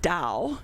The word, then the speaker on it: Dahl: They actually pronounced it Dahl, D-O-L-L, but I wouldn't allow them to spell it that way. So I spelled it D-A-H-L.